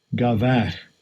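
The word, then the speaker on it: גבה: Gavach.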